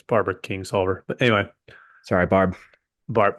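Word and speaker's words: Barbara Kingsolver: it's wild good there I said her name wrong it's Barbara King solver but anyway sorry Barb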